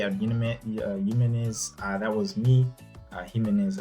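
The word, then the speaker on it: Jiménez: Jimenez, actually, that's how you pronounce it.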